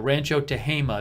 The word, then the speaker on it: Rancho Tehama: wrote it in its Rancho Tehama Rancho Tehama that's how you pronounce it according to Ruth Jenson thank you for writing